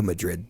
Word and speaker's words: Madrid: Yeah, maybe no Madrid. No Madrid. And And we'll say And it's Madrid. We'll say it wrong intentionally. Madrid. H Madrid starts with mud.